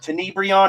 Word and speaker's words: Tenebrion: Tenebrion, is that the correct pronunciation?